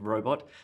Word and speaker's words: robot: emphasis on dog robot the emphasis on the first syllable in robot fantastic fantastic emphasis on